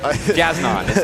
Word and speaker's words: Jasnon: Take a look at Jasnon. Jason, I don't know. Jasnon is how you say his name, but Jason's a lot easier.